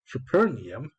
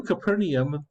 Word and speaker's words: Capernaum: Okay, well, pronunciation. How do I say it? Otherwise, Capernaum. Here we go. Capernaum. Copernicus? When they came to Capernaum, the collectors of the temple tax approached Peter